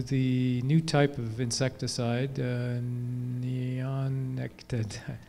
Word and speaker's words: neonicotinoids: looks like, to the new type of insecticide, neonicotinoids. How do you pronounce that?